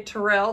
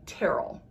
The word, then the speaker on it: Terrell: so we stayed in terrell we called it terrell because it's spelled like terrell but if you say tyrell they're gonna know that you're not a local so you want to say terrell um we stayed in